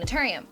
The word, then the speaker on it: Naturium: If you watched my clogged pores video, you realize that I had a hard time saying Naturium, but I got it right.